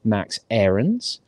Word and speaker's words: Aarons: people saying this correctly because that's how we pronounce it so from now on it is max aarons um and there was a bit of news